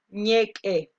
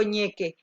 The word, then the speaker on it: Ñeq'e: Ñeque, es con una apóstrofe, como se pronuncia. Yo digo ñeque, pero es ñeque, así como ñeque, como suena, porque tiene una apóstrofe entre la Q y la E.